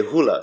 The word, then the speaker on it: hula: do you dance the you say hula right you don't say hula do you dance you just say hula so that little that's a little a hula and then if